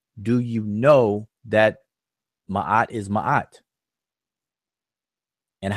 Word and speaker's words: Ma'at: So he's using the term Ma'at, or Mayat as he pronounces it, and the word Hotep.